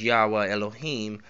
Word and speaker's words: Yahweh Elohim: Now there's a phrase that is used, Yahweh Elohim is how it, or Yahweh Elohim is how it's said.